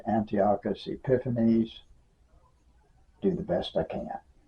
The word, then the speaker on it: Antiochus Epiphanes: by the name of Antiochus epiphanies and people pronounced in various ways Antiochus epinephrineus or something on that order I just always said Antiochus epiphanies do the best I